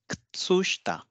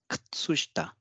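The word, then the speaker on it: 靴下: Ku becomes k. Tsu remains as tsu. She becomes sh and ta remains as ta. So it is Ktsushita. Ktsushita. Ktsushita. So it is Ktsushita.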